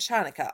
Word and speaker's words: Chanukah: Actually, both Hanukkah and Chanukah are right. The holiday's name is Hebrew, so there are different ways to spell it and say it in English.